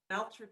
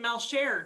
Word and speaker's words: Meltrick: Sometimes I get Melcher too, you know, the French side of it, but it's actually German.